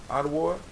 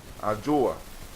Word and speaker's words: Adjoa: How you say the female name? I said the female name for Monday. Adwo? Adjoa.